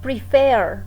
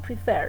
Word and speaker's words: prefer: Prefer, ¿no? Prefer, entonces no es prefer, decimos prefer y la entonación de voz está en la última sílaba y duplicamos la R, ¿no?